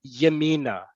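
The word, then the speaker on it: ימינה: Trust the Hebrew, trust my pronunciation, Yemina.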